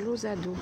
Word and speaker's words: Lousado: Et ça se prononce Losado.